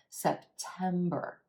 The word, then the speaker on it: September: into that second syllable September September that last syllable has our error sound which is always pronounced in American English that are except for